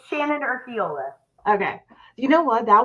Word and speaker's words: Urquiola: so you can tell everybody name it's Shannon orola okay you know what that was kind of